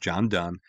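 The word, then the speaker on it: Donne: to reflect upon by John Dunn yes it's pronounced John Dunn and in his poem he said no man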